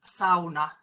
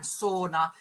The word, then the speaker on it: sauna: the global community, really it should be pronounced sauna rather than sauna, which even most Finnish people say when they start speaking English.